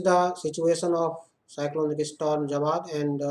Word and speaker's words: Jawad: intensified further into cyclonic storm Jawad, pronounced as Jawad, and lay centered at 11:30